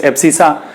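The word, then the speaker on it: abscissa: Okay, some teacher do the pronunciation of x-axis is epsisa. I pronunciation it like epsica.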